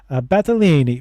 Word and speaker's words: Battaglini: journey to Ottawa, and of course Sandra Battaglini, which I was told I got permission to pronounce it that way.